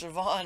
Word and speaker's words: Siobhan: nasal stuff or something but anyway it's actually pronounced Siobhan and I only figured that out from I think it was like orphan black and mrs.